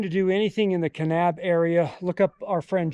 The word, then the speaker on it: Kanab: adventure takes us to canab Utah I think that's how it's pronounced right canab canab canab canab cannab all right so it's canab Utah we're headed to the